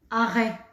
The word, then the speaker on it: arrêt: ici on a eu par exemple vous avez arrêt comme l'arrêt de bus arrêt là on entend est elle un rêve attention on prononce pas le thé on entend par le